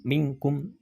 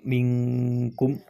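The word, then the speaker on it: مِنْكُمْ: nah kayak gitu ya jadi tidak langsung minkum tapi minkum minkum ya ayyuhalladzina amanu ati'ullaha wa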